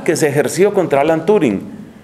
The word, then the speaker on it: Turing: Alan Turing o Turing, creo que pronuncian en inglés, Alan Turing era homosexual,